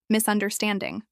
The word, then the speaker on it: misunderstanding: This is pronounced with four syllables and stress on stand. Misunderstanding.